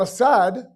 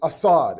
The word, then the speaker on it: Asad: It's not Asad, it's Assad.